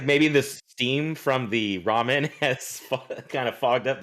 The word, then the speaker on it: ramen: __ ] ramen noodles ramen noodles raymond it's ramen noodles yeah everybody loves raymond